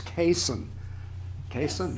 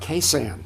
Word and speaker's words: Cason: long 46th North Swinton finally somebody said it right it's Cason not K Sam please I knew that